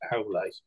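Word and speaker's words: Aulë: But apparently that should be pronounced Aule.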